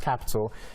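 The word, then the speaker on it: Qapital: So it's kind of confusing, but it's pronounced Capital.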